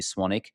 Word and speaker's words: Swanwick: SW n w k so it's spelled swanwick pronounced with a silent W swanic you can send me